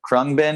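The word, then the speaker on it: Khruangbin: um let's see i don't know if i pronounce right but krung bin you know them yes yeah i do we're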